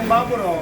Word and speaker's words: Yebá Buró: Então, como é que pronuncia aqui o drone? Que é Baburó.